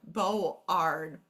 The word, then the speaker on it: board: trying to read it they have to know that this isn't going to say R right here board board it's bored the o r the